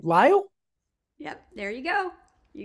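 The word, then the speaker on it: Lisle: i s l e how do I pronounce your first name lyo yep there you go you got I've never seen I've never seen spelled like that before any it's in the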